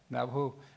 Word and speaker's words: Navajo: nation not uh Navajo I think I heard Navajo is that how you say it here yeah Navajo Nation um we're uh we're known as Nations